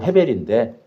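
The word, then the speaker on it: הֶבֶל: 이제 이스라엘 발음으로는 헤벨인데 그니까 전도서에 보면 이거 있죠.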